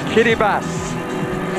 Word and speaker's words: Kiribati: Ah, the country, Kiribati. Not spelled like that, but that's how it's pronounced, let me assure you.